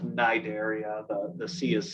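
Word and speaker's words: Cnidaria: uh the the phylum cideria so this is pronounced Nigeria the the sea is silent uh and these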